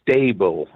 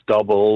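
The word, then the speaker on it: STA-BIL: nanny type thing, but the product is pronounced stable because it stabilizes the fuel. It's not stubble or stubil or whatever, but it's stable.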